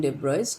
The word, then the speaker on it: de Broglie: is also pronounced at the boys libraries actual pronunciation debris dual hypothesis it was uh formed by louis